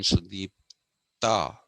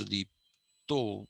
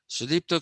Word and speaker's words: Sudipta: Okay, it's written Sudipta, Sudipta, but pronounced Sudipto because he's a Bengali. Sudipto Kaviraj has this great facility with language, both in writing and in speaking.